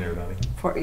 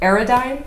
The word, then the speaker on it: Eridani: 14 Eridani. Yep. What? Say that again. 14 Eridani. Eridine?